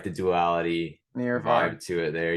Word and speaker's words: Near/Far: You just say it near far. You don't say that pronounce the slash, but that's okay if you would like to pronounce near slash far.